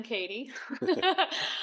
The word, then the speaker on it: Kadi: Um, I'm Katie. I'm Alex. And he didn't know how to pronounce that when he first met me with a D.